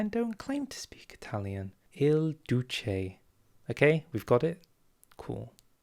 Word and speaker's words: Il Duce: Just to set the record straight, it's Il Duce, okay? Not Il Duce. I said it wrong. People were very mad at me. I don't speak Italian. I don't claim to speak Italian. Il Duce.